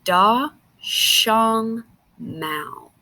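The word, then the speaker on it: 大熊猫: out it sounds like da shong mao so if we look here it would say da shong mao okay so that's how they would pronounce it in china and it says that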